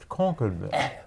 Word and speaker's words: Concord: the historic area of Concord mass oh wow so you're not saying it right Concord so I've done a